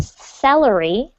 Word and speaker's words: celery: the jelly okay and this is actually pronounced salary salary dice the celery dice